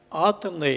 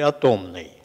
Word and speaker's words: атомный: И по мнению присутствующих, правильное ударение – атомный или атомный? Атомный, конечно. Атомный все-таки, да.